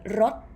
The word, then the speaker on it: รด: as you can see the first word rot high tone all of them actually why is it high tone because raurua is a low-class consonant lc come from low